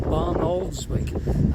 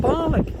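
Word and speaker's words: Barnoldswick: moving to Bali more Barn oldswick as it's spelled but the locals call it barley got Steve attempting to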